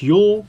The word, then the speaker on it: Ulg: Mass Sprint Cars was Tim Ulg, and it's pronounced Yule.